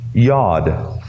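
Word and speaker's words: yod: spelled j OD but it's pronounced like the y yad file well what is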